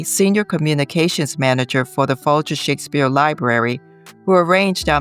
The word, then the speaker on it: Folger: We also thank Collehleen Kennedy, senior communications manager for the Fulier Shakespeare Library, who arranged our meeting with Heather.